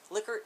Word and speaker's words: Likert: One term that drives me crazy within stats and research is Likert versus Likert. Everybody says Likert, even though the correct pronunciation is Likert.